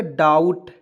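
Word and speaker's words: doubt: आइए यहाँ आप देखिए, डी ओ यू बी टी, तो ये इसको क्या पढ़ेंगे, डाउट, ठीक है ना।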